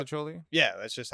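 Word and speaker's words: mostaccioli: Yeah, I've always pronounced it Masticholi. It's always been muscatcholi, but now that I've been older, I've been trying to teach myself mastacholi.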